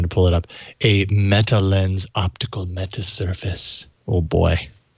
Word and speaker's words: Metalenz: Coupled with, sorry, I'm trying to pull it up, a Metalenz optical meta surface. Oh boy, that's a phone. Lens is spelled with a Z, by the way. Everyone. Yes. So Jason should be saying lens.